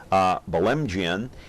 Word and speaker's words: Belemgian: viewer anyway I am joined now by bell mgn and he is the owner the firing line